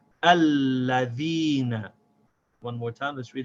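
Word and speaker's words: الَّذِينَ: So now how let's say this word smoothly without stopping. We say alladhina.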